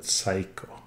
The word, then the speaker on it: Seiko: Not Seiko, but Seiko.